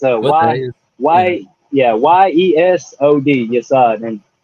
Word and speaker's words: Yesod: Well, that Sephira, the name for it is Yesod, which translates to foundation. Mm-hmm. Yesod, like Desad? Yesod? Yeah, it's pretty close, right? Yesod. Yeah. It's a Y-E-S-O-D, Yesod.